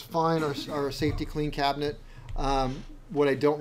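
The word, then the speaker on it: Safety-Kleen: We have a safety clean here. That's the safety clean. I don't think it's spelled that way. It isn't. It's like clean with a K. K-L-E-E-N. Yeah.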